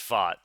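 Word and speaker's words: Pfaadt: It's Fott. Rhymes with Yeah, thought.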